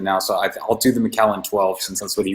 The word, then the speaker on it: Macallan: What does he call it? McCannon or something? Macallan.